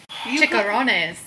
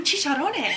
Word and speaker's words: chicharrones: Chicharrones. Ooh, chicharrones.